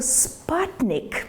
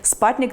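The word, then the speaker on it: Sputnik: Тому що це звучить трішки схоже на слово спатник. Саме так американці вимовляють слово супутник, тобто спутник, який Радянський Союз запустив, але читають вони його як спатник, тому що там літера Ю.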